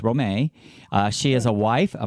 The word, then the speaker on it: Romay: success our guest is Roma capito and it's Romay a lot of people might think I'm pronouncing that wrong it's not Romi it's Rome a she has a wife a mother an entrepreneur